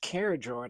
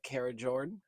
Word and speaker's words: Karijord: Internet's telling me it's pronounced Karijord. I hope that's right.